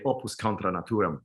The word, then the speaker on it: Opvs Contra Natvram: Just as you read it. That's it. Well, I mean, it's Latin, you know. So I mean, obviously, you know, like American speaking people, like English speaking people will try to make it sound something else. Yeah. But it should be very hard. It's Latin. I mean, no one knows how people pronounce Latin because there's no sources really. But I just say Opvs Contra Natvram.